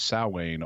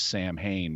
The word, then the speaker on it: Samhain: no internet and so they were mispronouncing it as Sam Hayne based on the way it's spelled ah like me uh